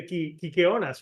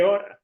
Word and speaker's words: Kykeónas: I had the Kykeónas, right? That's how you say it. exactly that. Yes, No, that's the how you say it. Kykeónas.